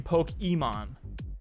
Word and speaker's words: Pokimane: You gotta underp that, because if you actually go on her Twitch channel, she pronounces her name Pokemon. Poke-E-means the wrong way to say it.